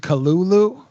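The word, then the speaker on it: Cthulhu: tried to say that cthulu is pronounced Kulu okay who say nerd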